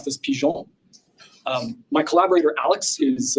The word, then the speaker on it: Pigeons: you want to be totally correct you would pronounce this pon um my collaborator Alex is uh from Quebec